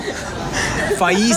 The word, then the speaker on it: Faiz: Okay, so once and for all, Faiz is how you pronounce the name, Faiz.